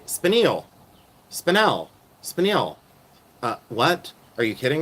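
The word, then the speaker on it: spinel: Did you ever know that spanel? Did you know how spanel is pronounced? You know, spanel, you know, it's pronounced spanil like sham shamzle.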